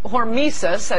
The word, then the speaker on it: hormesis: it's called hormesis, that's how it appears to be pronounced, I've only read about it, the beneficial effects of radiation.